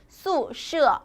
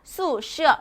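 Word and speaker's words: 宿舍: 뭐뭐 더 화라고 기억해 주시면 훨씬 더 좋다라는 거 기억해 주시면서 마지막으로 중국 학교의 기숙사는 어떻게 발음된다? 宿舍 라고 발음이 된다라는 거 발음 연습이 많이 필요로 합니다. 宿舍 라고 해주시면 됩니다.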